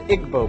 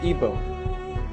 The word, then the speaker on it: Igbo: big happening is in Nigeria you have the Igbo people or ebo pronounced either way there's 40 million of them